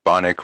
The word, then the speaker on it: Bonik: your last name uh bonik rhymes with sonic bonik nice uh thank